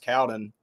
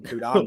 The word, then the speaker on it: Cowden: Apparently his last name is pronounced Cowden. And we've been calling him Kudon this whole time. We've gotten it wrong this entire time.